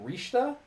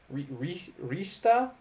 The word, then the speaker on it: Richter: don't know why but they're pronounced differently rather than Simon and Richter I believe it is Simone and rishta Rista yeah so there you